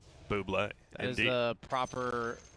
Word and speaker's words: Bublé: I Well, believe it's pronounced Buble. Bublé.